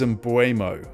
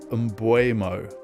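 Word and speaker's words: Mbeumo: It is embuo and people have been calling Burmo. It's not Burmo. It's not Embomo. It is Emuo. Uh that is how they say it in his native land.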